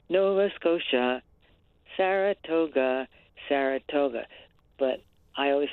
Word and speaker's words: Nova Scotia: nice rhyme scheme and I liked being able to pronounce noasa but the accent I put on the first syllable so that it would rhyme Nova scoa Saratoga Saratoga but I